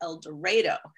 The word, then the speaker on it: El Dorado: is that even though it sounds strange in El Dorado they actually pronounce it eloro took me a long time to get used